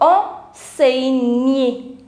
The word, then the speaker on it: enseigner: Now, what I was saying, that whenever a word will end with ER, it will give you the sound of A. So, enseigner, enseigner.